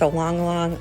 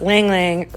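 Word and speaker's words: ylang-ylang: floral essential oil blend that I offer with a long long lavender or rather it's pronounced ylang ylang lavender and lemongrass but I really hope you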